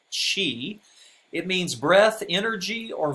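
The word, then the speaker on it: qi: that's the pinyin romanization when it's spelled c h i that's the old way giles romanization either way it's pronounced she it means breath energy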